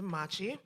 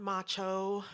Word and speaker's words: Machi: That is spelled two M's, A C H I. Not macho, not matcha, or mochi, or macho man.